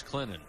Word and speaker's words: Clinton: It's Clinton. The N is silent or the T is silent, excuse me.